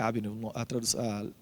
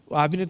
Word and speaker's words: Abner: Abner, eu acho que é Abner a pronúncia correta.